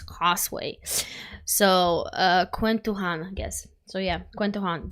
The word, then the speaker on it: KwentoJuan: So, uh, Quentan, I guess. So, yeah. Quentan, do you say all J's uh like J's in in uh all J's in Philippines are pronounced as a H?